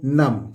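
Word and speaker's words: numb: गया नून इसी तरह एन यू एम बी B silent होता है इसको हम पढ़ेंगे दोस्तों नम क्या पढ़ेंगे नम इसी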